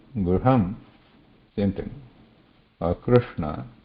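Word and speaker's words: कृष्ण: Krishna, you should be mindful there. So what is here? We are not pronouncing Ra, which is a Vyanjanam, means there is a contact. We are pronouncing Ru, which has no contact. It is a Swara, but the place position is here with the rolled tip of the tongue. R.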